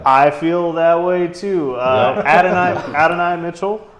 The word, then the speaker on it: Adonai: Adonai Mitchell, right?